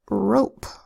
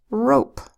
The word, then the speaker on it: rope: Here we have a R that says a long O that says O, a P that says P, and we don't want this to say rop with a short O that would say ah. We want it to be a long O that says O, so we add a silent final E.